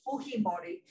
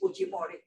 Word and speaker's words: Fujimori: the way in spanish in peru his name is pronounced the spanish way which is fujimori in japanese it will be fujimori anyway his daughter keiko